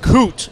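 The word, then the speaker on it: Kohte: And it's K-O-H-T. Yes. But pronounced K-O-O-T. Yes, correct. Okay. Well, that's Coote, who joins us this week.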